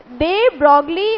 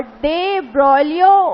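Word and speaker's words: de Broglie: तो डे ब्रॉगली उसको बोलते हैं हिंदी में, और डे ब्रॉलियो उसको बोलते हैं इंग्लिश में।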